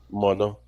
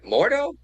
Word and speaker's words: mono: Mono. Okay. Mto. Mono. Oh, mono. Okay. Mono. Mono. Now, does it have a ton over the end? Like a m o n o.